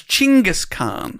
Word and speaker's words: Chinggis Khan: Apparently, he is known in Mongolia as Chinggis Khan. Okay. I spelled with a CH.